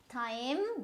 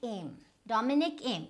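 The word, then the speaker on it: Thiem: Now this is Dominic, and this is now you would pronounce it as Dominic Thaim, but that's wrong. It's Dominic Aim. So which means that you just completely do away with this TH, right?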